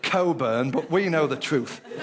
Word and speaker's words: Cockburn: butcher, baker, carpenter, and cockburn. Of course, they insist on pronouncing it coburn, but we know the truth.